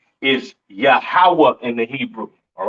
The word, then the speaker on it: Yahweh: So Lord in all caps, being God's name, is Yahweh in the Hebrew. All right. Yahweh is not Yahuwah.